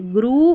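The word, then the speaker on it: grew: यहाँ पर ई डब्ल्यू ने ग्रू नहीं बोल रहे, फ्लू नहीं बोल रहे, ग्रू और फ्लू बोल रहे हैं और यहाँ पर EW का उच्चारण ऊ करके हो रहा है।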